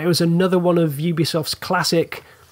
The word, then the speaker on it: Ubisoft: Well, at least we established that Ubisoft is pronounced Ubisoft.